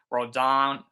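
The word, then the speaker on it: Rodón: said Cortez starting today rodon rodon rodon some people have different pronunciations even as a Yankee fan um some I I go I go I guess more towards rhon um but it's corz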